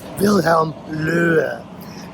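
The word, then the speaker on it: Wilhelm Löhe: gentleman right up here, this is uh Pastor Loehe, which in German, his real pronunciation would be uh Wilhelm Loehe.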